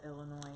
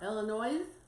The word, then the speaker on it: Illinois: You don't pronounce the S at the end of Illinois. Whatever. I don't care. Illinois?